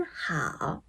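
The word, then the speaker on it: 很好: hěn Read later hǎo Should have been pronounced hěn hǎo But there is a code, the three tones in front of three, three, two, and three should be read as two Become hěn hǎo (hén hǎo) Do it again hěn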